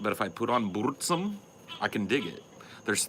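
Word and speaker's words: Burzum: m but it's pronounced bsum do you have to roll the r any sweds in here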